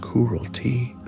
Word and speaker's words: Kurultai: In that year, Temujin summoned a great assembly, a Kurultai, pronounced Kurulti, on the banks of the Onon River.